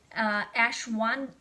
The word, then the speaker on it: ashwagandha: Ashwagandha, I can't say it right, ashwagandha.